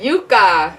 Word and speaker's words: Yooka-Laylee: how do you pronounce that? Yooka-Laylee? Yooka-Laylee.